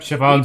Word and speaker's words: Siobhan: Yeah, Siobhan. I have the whole day to spare. Ladies and gentlemen, welcome to Dream Jolt Hostelry. This bar offers a wide variety of drinks, but Siobhan's we draw an the Irish line name, at